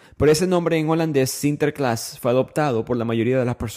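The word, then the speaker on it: Sinterklaas: Ellos establecen esta colonia de Nueva York en Estados Unidos en el siglo X y ellos celebran a San Nicolás pronunciado en holandés CTERClass.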